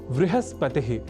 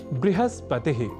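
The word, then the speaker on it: बृहस्पतिः: दिला रहे हैं कि कुछ ऐसे भी शब्द हैं जहां व और ब इन दोनों ही अक्षरों के बीच अभेद है। इस स्वीकृति के साथ कई शब्द हमें संस्कृत साहित्य में प्राप्त होते हैं। जैसे आपको याद ही होगा वृहस्पतिह या बृहस्पतिह। वृहत या बहत वहीह या बह और वाह्यम या बाह्यम जैसे उदाहरणों में दोनों ही प्रयोगों की शुद्धता की स्वीकृति हमें संस्कृत के शास्त्रों द्वारा प्राप्त होती है।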